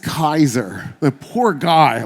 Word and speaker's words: Caesar: of the way um his name wasn't Julius Caesar it was gas ulius Kaiser the poor guy like